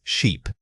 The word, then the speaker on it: sheep: Compare this to the last word. The long sound forces your mouth into a wider, more sustained shape. Think of smiling slightly while stretching out the sound.